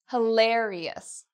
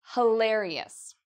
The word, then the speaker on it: hilarious: So I want you to try the pronunciation of this word, hilarious. The stress, the part that's loud, there, hilarious.